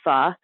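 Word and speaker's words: phở: They're known especially for what Americans pronounce as pho, but is really technically pronounced more like pho. And how do you spell that, pho? You spell it P-H-O, which is why Americans call it pho.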